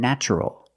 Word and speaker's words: natural: a vowel an a also in this pattern the t is pronounced with the CH sound so the word is